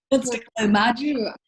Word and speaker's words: Mari: Mari's is the hardest. It's Margie.